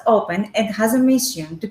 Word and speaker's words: Οπe\n: on leading edge technologies it is pronounced open and has a mission